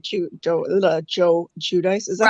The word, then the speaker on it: Giudice: Yeah, they were fun anyways, but they acted like Joe Giudice. Is that how we pronounce it?